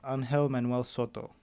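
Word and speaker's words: Ángel Manuel Soto: excuse me okay uh so the director is pronounced as angel manuel soto angelman he's white i'm part white but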